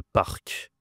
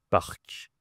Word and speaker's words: parc: L'endroit où il y a beaucoup d'arbres, par exemple, c'est dans une ville, le parc. Tu as encore le R. Le parc.